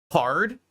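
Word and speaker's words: Carrd: I made this page this is called hard but it's spelled c a r r d rather than c a r d it's supposed to be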